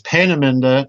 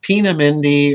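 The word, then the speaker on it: Peenemünde: all right right and please note the pronunciation everybody it's panaminda not pina mindy or you know i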